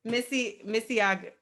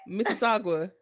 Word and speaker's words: Mississauga: Mississauga, Mississauga. Mississauga, Did I Missy. say it right? Wait, what did you say? Mississauga.